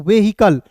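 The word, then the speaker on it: vehicle: व्हीकल।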